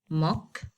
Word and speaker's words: democracy: Okay, Like for instance, if we go to a word like democracy. Democracy. Okay, so simply this word ends by CY. I have to go to the phonetic transcription. It is said to be democracy.